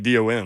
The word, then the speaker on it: Dawn: No, it's Dawn, ain't it? She says I say it like Dawn. she's Dawn, like D-O-N, like a dude. Dawn.